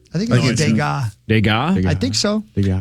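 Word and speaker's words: Degas: but woo 13 mil dega it's a good investment dega is how it's pronounced according to this French impressionist uh realist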